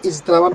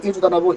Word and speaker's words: اجتنب: এখানে যেটা মনে হচ্ছে আপনার কাছে ইজতানাবা, ইজতানাবা ইয়াজতানিবু ইজতিনাবান, এখানে একটা টান আছে।